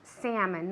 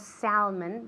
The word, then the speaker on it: salmon: En inglés la S de salmón no se pronuncia. Decimos salmon, no decimos salmon, decimos salmon.